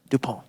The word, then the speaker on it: Dupont: the son of uh john dupont yes that's the french pronunciation um we i think